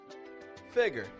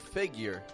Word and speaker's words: figure: word two pronunciations figure figure now the common difficulty here is often pronouncing the U in the word figure with a little bit too much emphasis a little bit too